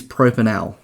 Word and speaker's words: propanal: The way that we would pronounce this is propanal.